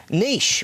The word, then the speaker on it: niche: And so I started coming here, and unwittingly I stumbled, Chris, upon a niche. We call it a niche. You guys pronounce it niche.